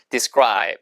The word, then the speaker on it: describe: 발음이 describe가 아니고 describe. 끄 발음이 나야 돼요. 100% 원어민 이렇게 발음합니다. 자, 보세요. describe. 묘사하다. describe.